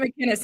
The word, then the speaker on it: McInnes: We pronounce it McInnes in Canada this way.